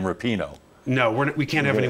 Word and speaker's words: Rapinoe: Petrione, is that how you pronounce her name? The short-haired blonde girl? No, not Petrione. Rapinoe. Rapinoe. See, I got it wrong, but she is.